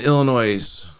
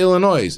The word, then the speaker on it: Illinois: LOS is silent in Illinois. Well, we say Illinois.